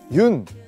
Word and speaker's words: 윤: 여기 보시면 흙이 있는데요 많은 분들이 아마 그 윤 이제 윤이라고 읽거든요 연이라고 읽으실 수도 있고 뭐 여러가지 방법으로 읽을 수 있는데 그 유년근 화백 님의 성입니다 그래서 외국에서는 윤이라고 많이 부르기 때문에 제가 그 윤이라는 그